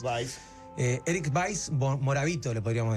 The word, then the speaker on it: Weiss: Sí, no, Eric Weiss se llamaba, Weiss, W-E-I-S-S, pero creo que la pronunciación es Weiss. Vice.